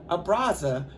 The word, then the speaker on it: Abraza: Abraza, pronounced Abraza, is Spanish for the word embrace.